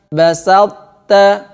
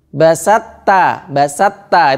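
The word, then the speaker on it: بسطت: Nah, kalau diidghamkan secara sempurna, ini begini. To-nya hilang. Basatta, basatta. Itu idgham secara sempurna. Tapi ini bukan ini. Ini salah. Kalau dimasukkan secara sempurna, salah. Yang betul adalah dimasukkan tidak sempurna. To-nya masih. Basalta. Sehingga tulisannya tetap basalta.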